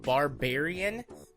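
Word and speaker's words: Barbearian: game on my list it's called barbarian but spelled like bear isn't like grizzly bear and it's a you're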